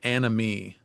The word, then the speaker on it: anomie: probably, is what I call the sea of anomie. This is the sea of anomie, a turbulent, confusing, rollicking sea that we're all born into. Anomie is a French word, and it was popularized